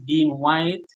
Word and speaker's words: Dean Whyte: I spell white because most people try to spell it whi and they will not find me. But my name is Dean White, blind visioner, which is V I S I O N A I R E.